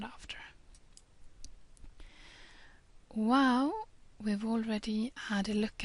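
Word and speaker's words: Waw: Wow, we've already had a look at, since it's one of these vowel sounds. It can be pronounced as the W in the beginning of the word worry. But, as we said before,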